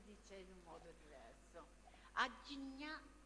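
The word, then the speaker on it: आज्ञा: Sesto è Agnya o Agya, perché ogni posto, ogni punto dell'India si dice in un modo diverso. Agnya sarebbe corretto, però molti dicono Agya o Agna.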